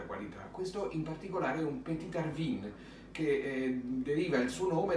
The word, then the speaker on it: Petite Arvine: anno lascino piccolo quindi pt petina bear vino harbin secondo di come lo volete pronunciare se alla francese o se un po più alla valdostani italiana bene questo è un